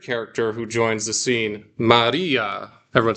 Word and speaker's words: Maria: Everyone say Maria. So you might notice that I'm not saying Maria, there's a Maria. There's a bit of a roll in the R's if you're getting a technical Greek pronunciation.